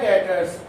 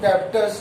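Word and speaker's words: debtors: इसी तरह से मैं आपको और बताता हूं यहाँ पर, जैसे हमारा आता है डेटर्स। देखिए डेटर्स में बी साइलेंट होता है और DRS बोलते हैं इसको, डेटर्स, लोग डेप्टर्स नहीं बोलते।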